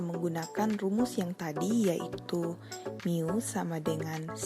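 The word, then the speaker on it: μ: new merupakan rata-rata populasi di dalam huruf kecil Yunani dibacanya new n merupakan jumlah nilai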